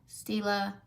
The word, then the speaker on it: Stila: No, Stila.